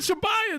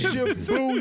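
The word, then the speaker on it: Shibuya: I said, you said you said Shabbaya, dude. It's never Shabbaya, huh? It's Shabuya.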